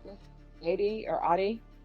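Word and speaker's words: Aide: There's to be restitution to, how do you pronounce this? Adi or Adi? Ida.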